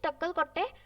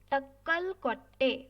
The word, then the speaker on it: Takkalkotte: Next is Takkalkotte. For spelling this, I'll tell you Takkal, then Kotte. Takkalkotte.